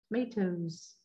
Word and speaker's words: tomatoes: So, if we have t m a t o s tomatoes right? Mine kind of sound like tomatoes. All right, it's more of a z sound at the end because we're coming after a loud sound.